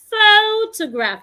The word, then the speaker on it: photograph: I have is photograph photograph in that word I'm stressing the first syllable photograph has three syllables